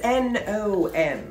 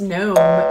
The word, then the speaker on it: Nom: At Nom is N-O-M. N-O-M. Yes. N-O-M. Don't think it's gnome pronounced differently, because it's not. No. Nom, like, ooh.